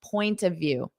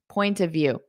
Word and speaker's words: point of view: forget that of now when I say this as one I'm going to turn that of into an a sound point of view point of view you don't have to